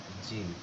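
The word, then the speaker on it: جيم: জিনটা একটু শক্ত করে উচ্চারণ করতে হবে।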